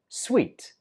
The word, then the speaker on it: suite: You might use number 12 at a hotel, and this one is difficult to pronounce because the spelling is nothing like the pronunciation. We pronounce this word as sweet.